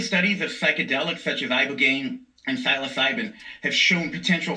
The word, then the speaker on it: Ibogaine: Specifically, they were touting this one drug, Ibogaine, I believe is how you say it. Correct.